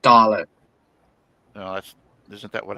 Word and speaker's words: Dalek: And uh I mean hell he doesn't even like killing dialects. That that was the whole pronounced Dalek.